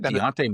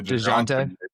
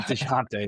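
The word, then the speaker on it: Dejounte: You meant to say Deonte. Yeah. Dejante. Yeah. Well, they say his name like five different ways, so I can't even blame you on that one. Some people say Dante, some people play say De Jante.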